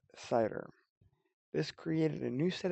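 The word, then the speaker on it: CIDR: happens to be the classless inner domain routing pronounced CER this created a new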